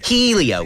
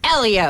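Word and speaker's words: Hélio: who's very hot and it's pronounced Elio okay that too now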